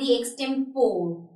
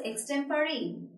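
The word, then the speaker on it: extempore: Was also saying एक्सटेंपोर I went for द एक्सटेंपोर। But later on I felt that the pronunciation which I am making of this word is totally रोंग। तो इस word की जो correct pronunciation है इट इज़ एक्सटेंपरेरी।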